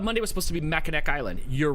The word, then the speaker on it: Mackinac: right I thought money was supposed to be Mackinac Island you're right you're right and that didn't